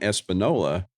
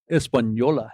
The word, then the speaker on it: Española: Yeah, I was flying a VTEL Bonanza back from Espanola, Mexico. Española. It's got the little in you.